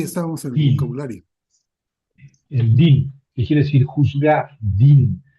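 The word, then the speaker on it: דין: en el vocabulario, el din, que quiere decir juzgar din. Hay verbos así que tienen una yod en la mitad y eh la pronunciamos i, ¿verdad?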